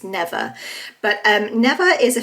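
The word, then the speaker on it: Neva: main character who's called I think it's pronounced never I was pronouncing it NE in my head and then when I listened to the audio book it's never but um never is a 15-year-old girl in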